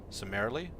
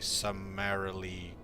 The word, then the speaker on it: summarily: Sarily sumearily. Sumily sum I can say sumearily but that's pronouncing the u incorrectly should be sumarily executed summary sumearily.